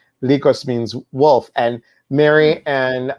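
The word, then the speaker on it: λύκος: in greek so um likos that's how you pronounce her last name in greek lycos means wolf and mary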